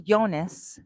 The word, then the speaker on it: Jonas: Um, now I say Yonas because the J is silent. It sounds like a Y, right? Like jalapeno. And you know, here it's yonas. But do you name do you call yourself Jonas?